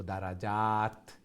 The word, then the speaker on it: درجات: দারাজাত যেটা একটা লং তা যেটা একটা প্রনাউন্সিয়েশন উচ্চারণ তা হইব দারাজাত। আর যদি গুলতা রাউন্ড তা হয় তাহলে ই তা স্টপ করলে হা হয়ে যায়।